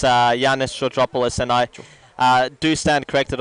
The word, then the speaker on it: Georgopoulos: Might be Ionis Georgopoulos. Yeah, it's Yanis Georgopoulos, and I do stand corrected on the pronunciation of Michael's last name.